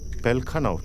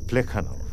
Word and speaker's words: Plekhanov: প্লেখানব Pelkhanov, nahi, Plekhanov. First you correct your pronunciation, then speak.